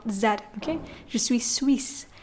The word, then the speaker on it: Suisse: word s so here there's a double s in the word when it's double s we pronounce it as s not that okay just we Suisse not just sweet sweet